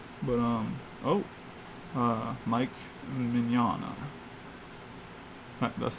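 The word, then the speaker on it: Mignola: you got it but um oh uh mike mignana that's how i was taught to pronounce his name uh mike um he's freaking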